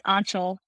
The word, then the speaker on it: Anshul: Angel, how's it going? Please correct me if I said your name wrong. No, that's all right. It's Anshul.